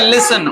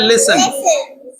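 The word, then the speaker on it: listen: শোনো এটাকে লিসেন এটা হবে লিসেন উচ্চারণটা হবে লিসেন লিসেন ট এর উচ্চারণ হবে লিসেন ঠিক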